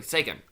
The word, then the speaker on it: Seiken: Seiken.